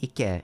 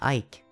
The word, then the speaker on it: Ike: Ikeman, I I've seen that pun a lot, but it doesn't really work because my name is not pronounced Ike. It's Ike.